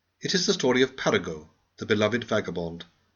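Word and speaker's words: Paragot: is the story of Parago the Beloved vagabond please pronounce his name French fashion and if I approve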